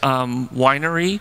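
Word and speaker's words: Weinre: just wanted to highlight one is winery although you know that's the suggested pronunciation those of us with high school mindsets call it Wiener it's always good for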